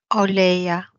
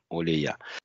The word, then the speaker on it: Олея: Олея. Олея. Олея. Олея. Да. Ударение на последнюю букву. Олея.